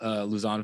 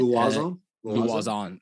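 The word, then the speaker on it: Lauzon: Really quick thing on the Joe Luzon fight. Luazon. That's how you say it in the Philippines.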